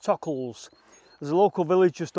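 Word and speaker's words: Tockholes: local village is called i want to pronounce it tuck holes but apparently it's pronounced tuckles there's a local village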